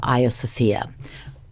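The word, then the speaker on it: Hagia Sophia: with an introduction to a sopia which is by the way the Greek pronunciation of the Church of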